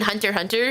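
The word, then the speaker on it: Hunter × Hunter: Uh the power is deal the show is excel like in Hunter Hunter. Yeah. The X is silent or spy family.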